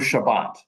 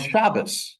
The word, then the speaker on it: Shabbat: different dialects you know we say in modern Hebrew Shabbat but in Yiddish pronunciation or Eastern European Jewish Hebrew it was shabas it wasn't sukot it